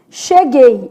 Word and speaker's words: cheguei: O U não é pronunciado. Gay. Então, não tem tritongo nessa palavra, né?